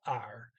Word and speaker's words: er: sound r okay so even though they spelled it er it's pronounced r matching the infinitive vara okay yeah they are